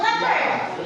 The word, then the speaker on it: leopard: Leard leard leard le le So where is the stress and leard in the first syllable?